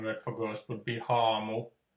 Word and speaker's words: haamu: The Finnish word for ghost, or well, one word for ghost would be haamu. So the Ha is always ha, and the Finnish word for lake is järvi, J, A with umlaut, RVI, järvi.